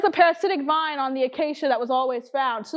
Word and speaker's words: Acacea: Said acacia, not akasha.